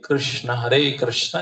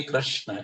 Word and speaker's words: कृष्ण: इसमें जो है हम ध्वनि को अंदर खींचते हैं, हरे कृष्ण, इस तरह से महाराज बता रहे। कृष्णा नहीं कहना है, रमा नहीं कहना है।